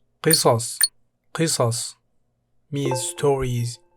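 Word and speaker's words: قصص: Qisas. Qisas means stories, pronounced qisas.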